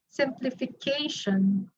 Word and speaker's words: simplification: Some said it lies on the third syllable. If it lies on this syllable, in fi, simplification, that would sound awkward, right? That's not how we pronounce the word simplification. So some of you said, or most of you said it lies on the fourth one. So this is actually the proper stress.